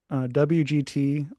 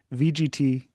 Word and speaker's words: WGT: WGT, or how they say it, VGT is something else.